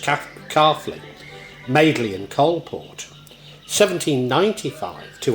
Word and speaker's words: Caughley: 1772 to 1926, porcelain made at Caughley, pronounced Caughley, Madeley and Coalport.